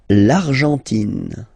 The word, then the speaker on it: L'Argentine: L'Argentine. Okay, so you've got this nasal here, en, l'argent, and then tin. Don't pronounce the final it just gives you the pronunciation of the N, in.